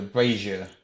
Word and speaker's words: brazier: yep so yeah it sounds slightly like that breath here yes I'm something like the TV character Fraser is it there's a slight in there rather than strong jet sound so brazier ya know Razia which